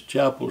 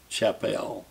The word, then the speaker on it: Chappell: went to hear clovis chapel speak and they introduced him as chapel not chappelle so i tried to